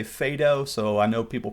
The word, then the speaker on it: Phaedo: of those dialogues called the Phaedo or the Phaedo. I was trained to say Phaedo, so I know people pronounce that differently.